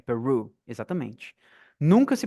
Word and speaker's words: Peru: de caipira R então peru é simplesmente mudar a pronúncia do R peru exatamente nunca se pronuncia